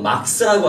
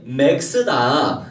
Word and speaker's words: Max: 그런데 발음이 A 발음이 아인 줄만 알고 막스라고 하는 거예요. 그래서 너 막스 아니고 맥스다. 그래서 이렇게 가르쳐줬죠.